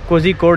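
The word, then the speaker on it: കോഴിക്കോട്: एक तो कोझिकोड है, कोझिकोड, कोझिकोड, कालीकट को अंग्रेजी में 'z' के साथ कोझिकोड लिखा जाता है। लेकिन ये लोग इसका उच्चारण ' कोझिक्कोड' की तरह करते हैं, जो मैं बिल्कुल भी नहीं कर पाता।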